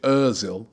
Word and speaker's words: Özil: made Mees oil come what should I say mes Özil is the pronoun right correct pronunciation I need to start getting that right what made Özil come